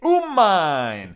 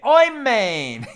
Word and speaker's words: amen: I mean, in my minyan, there's 10 different ways to pronounce amen. Okay, some people say amen. Some people say umain. Some people say oimain.